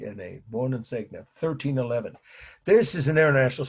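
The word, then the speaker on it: Buoninsegna: long Italian last name Wen segna that's how I've heard it my Italian friends pronouncing it you don't have to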